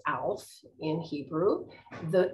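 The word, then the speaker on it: אלף: about today its letter is a a is pronounced alf in hebrew the it's the fool and it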